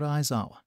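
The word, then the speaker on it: Aizawa: home room teacher shout isawa and yes that is how you say my name and whoever says otherwise is an idiot damn idiotic hero clown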